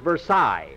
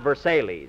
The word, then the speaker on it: Versailles: Mercedes Mary that's person that's pronounced Versailles not verse Ailey's I'm quoting Phil we